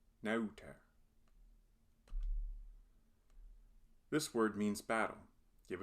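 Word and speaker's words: neuter: Nauter. This has another diphthong, the EU combo. Au. Nauter.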